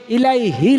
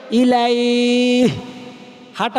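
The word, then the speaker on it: إليه: আস্তাগফ আমার সাথে বলেন এখন আমার সাথে বলেন আস্তাগফিরুল্লাহা ও ইলাই ইলাইহি লেখা আপনি থামবেন ওয়াকফ করলে শেষের হরফ জজম হয়ে যাবে ইলাই হাটা উচ্চারণ হবে কিন্তু ইলাইহি বলবেন না আসতাফিরুল্লাহ ইলাই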